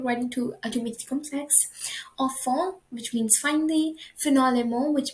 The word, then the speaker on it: enfin: So enfin, the pronunciation of it is very same as the one over here. I'll show you, like the one saying enfant in French, which means kids, children, or babies.